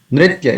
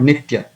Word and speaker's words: Nritya: And it's the Nritya, it is not Nitya.